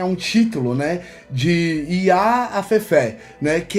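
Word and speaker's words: afẹ́fẹ́: É, os ventos eles são chamados de eh afef. É assim que fala baraó? É afef. Como que é a pronúncia certa? Afé. Afé. sinal no final é o acerto é no último a Fefé.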